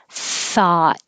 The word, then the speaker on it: thought: Hut thought and though this th in 22 is voiceless it's just air thought and the vowel is ah you have to open a lot I thought so that's